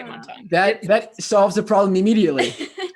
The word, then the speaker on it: Montanya: Her name is Karen Hoskin, and she is the owner of Montanya. How do you pronounce it?